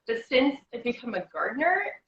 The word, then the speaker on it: Gardiner: since i've become a gardener people drop the di and pronounce the garner when they say it